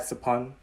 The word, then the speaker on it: Sophon: There's a lot of other Cambodians with the same, you know, SOPH prefix, like my dad Sapon, SOPHON, and my ex Sapi, SOPHY, and her cousin Sapani, SOPHANNY, and one of my besties, Sapik, SOPHEAK.